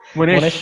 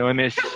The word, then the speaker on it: Monash: Gimana pronunciation-nya? Monash ya. Oke, Monash.